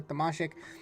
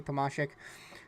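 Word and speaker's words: Tomasek: Someone actually went out and put the pron proper pronunciation for Thomas's name or Tomasik. And I did expect it to be Tamasik.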